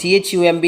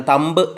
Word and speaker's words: thumb: For example, thumb, THUMB എന്ന് പറയുന്നത് thumb എന്നാണ് ഉച്ചാരണം, തമ്പ് എന്നല്ല, thumb.